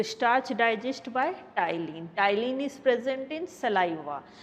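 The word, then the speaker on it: ptyalin: आपसे जैसे क्वेश्चन आता है, कभी आपसे पूछ लिया जाए टाइलिन is present in, T silence है, इसे टाइलिन प्रोनाउंस करते हैं, इसका प्रोनाउंसिएशन टाइलिन है, या इसी को सैलिवरी एमाइलेज भी कहते हैं, अल्फा एमाइलेज भी कहते हैं।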